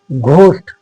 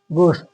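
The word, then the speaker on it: ghost: रिदमम क्या पढ़ोगे रिदमम फिर घस्ट घस्ट नहीं होता है घस्ट घस्ट तो एच यहां पर साइलेंट रहेगा गोस्ट फिर जी के बाद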